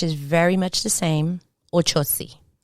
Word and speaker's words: Ochosi: very much the same ochosi it's just the osi is pronounced a little bit differently in spanish it's the same pronunciation